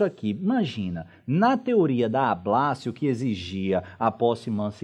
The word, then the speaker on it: ablatio: O que é a teoria da ablatio, que é assim que se escreve, mas se pronuncia ablácio, indica?